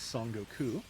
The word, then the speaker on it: Son Goku: Or if you are pronouncing those, kanji, the Japanese way instead of the Chinese, Son Goku, as you probably know.